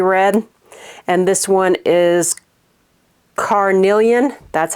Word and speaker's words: Carnelian: like a cherry red and this one is Carnelian that's how you say it and the next